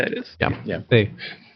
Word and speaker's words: ye: Which I think technically is just Old English for the old crib, but yeah, it is. Yeah. They would pronounce it as ye, or pronounce it as the.